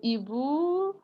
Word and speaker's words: hibou: Le hibou mange le hamster. No, is the H is aspirated, so it doesn't accept contractions.